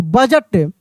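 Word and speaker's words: budget: बी यू डी जी ई टी बजट। यहां पर भी डी साइलेंट है।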